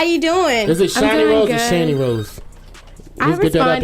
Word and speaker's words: Shani Rose: Is it Shani Rose or Shani Rose? I respond either way, but it's Shani Rose. Let's get it out the way. It is Shani. I don't want to be mispronounced.